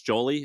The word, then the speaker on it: Jolie: Is this Jolie?